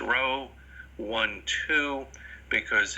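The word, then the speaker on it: rho: zero that's equal to this is pronounced row one two because it's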